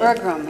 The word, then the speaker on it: Berglund: Is that how you pronounce his name? Berglund, yeah.